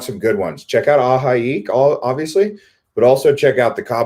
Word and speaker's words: ahi: Yeah, so San Diego was watching my Island Hopper video from AHI. That's how you pronounce it, AHI.